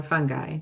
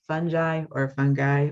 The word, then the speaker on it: fungi: It's in a class all by itself, the kingdom of fungi, or fungi, depending on how you want to pronounce it. And whether you call it mold, fungi, or mildew, it's all the same thing.